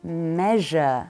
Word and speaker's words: measure: example Med is to measure and the pronunciation of the the s u e at the end is sh measure excellent prasar to fail